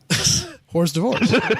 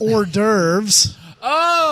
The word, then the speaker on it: hors d'oeuvres: and eating our free horse divorce excuse me horse divorce that's I mean it's written right there on